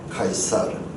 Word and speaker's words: 카이사르: 카이사르, 시저. 이 C 발음은 시저가 되고 크 발음은 카이사르.